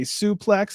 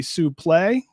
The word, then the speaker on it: suplex: was Cor praac on the proper way to say suplex it's actually sup play how much do you know about that brt did you know it's called a supl not a suplex we've talked about this